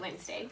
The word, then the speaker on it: Wednesday: is wet Nez day sounds funny but that's how you spell it we really pronounce it Wednesday but when men's day